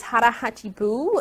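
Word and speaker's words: 腹八分: It's a philosophy, and how you say it is hara hachi bu, and which that means in Okinawan Japanese is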